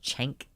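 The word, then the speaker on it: Cenk: can have an opinion it's pronounced chank okay I've only ever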